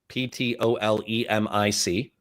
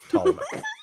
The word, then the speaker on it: Ptolemaic: that when I Googled, because I said Ptolemaic, Ptolemic, everything I'm seeing on Google is Ptolemaic, and so I will accept your pronunciation, Ptolemaic.